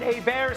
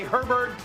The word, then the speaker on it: Herbert: Their jersey on the back, some pronounce it A-Bear, some say Herbert.